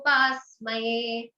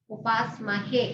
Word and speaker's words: Upasmahe: So Agajanana Padmarkam Gajanana Maharnisham Anekadamtam Bhaktanam Ekadantam Upasmaye. Okay. Okay, Ekadantam Upasmahe. He. It's not ye. Upasmahe.